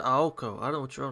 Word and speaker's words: Aoko: I can't believe this I did not say ow I said aoko I don't know what